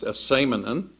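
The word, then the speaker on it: ἐσήμανεν: That word that we were just looking at, communicated in Greek, don't worry about the Greek, but it's pronounced asemenon.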